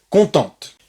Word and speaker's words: contente: Et évidemment, le E du féminin ne se prononce pas. Il n'y a pas d'accent. Par contre, s'il y a un E à la fin du mot, il faut prononcer juste jusqu'à la lettre antérieure. Ici, c'est un T. Donc, il faut écouter le T.